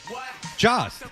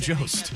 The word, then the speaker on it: Jost: Jost. You know that's not how it's pronounced, you silly goose. I swear to God, I didn't know I did something wrong. Are you serious? Are you being serious right now? It's Colin Jost.